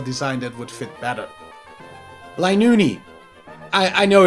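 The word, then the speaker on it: Linoone: that would fit better linuni i i know it's pronounced linux don't worry i just find it ridiculous that it has an unneeded e at the end of its name as both zigzagoon and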